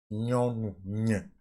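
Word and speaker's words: nyɔnu: Nyonu. Comme dans champagne.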